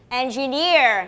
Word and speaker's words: engineer: more time engineer okay so on which syllabus is the stress on the third one okay engineer now class engineer engineer